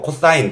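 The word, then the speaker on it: cos: 이거 그냥 사인이라고 읽고 코사인 이것도 세 자만 써요 그래서 그냥 코스라고 안 읽고 코사인 다 읽어 주시고 탄젠트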